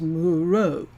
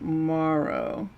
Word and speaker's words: Moreau: It is actually a French name. It is Moreau. And I think it's French. It's not Morrow.